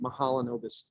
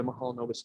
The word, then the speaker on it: Mahalanobis: And if you can't pronounce it, you're not the first person. So you can call it MDist or whatever, but at least I pronounce it Mahalanobis distance.